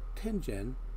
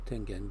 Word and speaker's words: Tengen: I won't be getting to Tengen, I know most people say Tengen, but I pronounce it Tengen, releases until the video after this one.